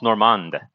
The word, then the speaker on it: normande: the uh normandy sauce sauce normande probably without the at the end because it's french it's got silent dumb silent letters in french oh but i'm heating